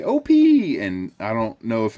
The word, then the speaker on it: Opee: was saying was the name of this fish is the Opie Opie ee is how it's spelled and here's what he